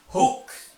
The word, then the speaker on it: hoax: Jadi, tidak boleh mengandung unsur pembohongan atau dalam bahasa Inggris disebut dengan hoax. Orang-orang biasa menyebutnya dengan istilah hoax. Padahal yang benar membacanya bukan hoax ya, tapi Hoax. H-O-A-X. Dibacanya Hoax.